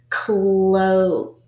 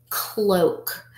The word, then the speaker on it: cloak: through the air okay we have Oh a which is a valve hair which means the Oh will make a long a sound and the a will be silent let's read it cloak cloak a cloak is like